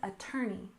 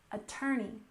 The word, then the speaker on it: attorney: attorney or a lawyer we stress the second syllable in this word attorney attorney for example you may